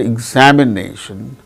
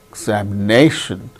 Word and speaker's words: examination: particular syllable that's why in the word examination examination the syllable name is marked with primary accent that is before and above the syllable and exa so that second syllable is marked secondary accent that means below and before